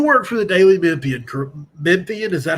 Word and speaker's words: Memphian: creation so you work for the daily memphian memphian is that how you say it yes sir daily memphian we're online only uh daily uh newspaper in